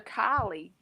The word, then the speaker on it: Callie: Kylie. They call her Kylie. Yeah, it's spelled Callie, though.